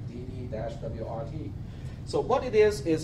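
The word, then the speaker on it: DD-WRT: how do you say how do you say it you have to spell out the letters right dd- wrrt so what it is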